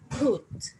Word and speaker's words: put: So it happens the same with the word put. As we say, we pronounce it with an aspirated P, and then we have a glottal U, so put.